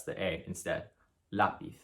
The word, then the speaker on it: lápiz: The tilde, which is this accent mark, lets you know that that is a syllable that should be stressed instead. So in a word like lápiz, it ends with this consonant, so it should be lápiz. But it's telling you here that you have to stress the A instead.